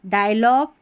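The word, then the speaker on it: dialogue: नहीं ग हो जाएगा जी यू ई किसी भी स्पेलिंग के आख आखिर में आता है तो इसको ग पढ़ते हैं। टंग डायलॉग कैटलॉग ये स्पेलिंग्स हैं।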